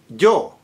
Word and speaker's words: yo: Also, the word Joe as in I personal pronoun Joe. You notice when I start a word with it or jama, there is a slight element of G there.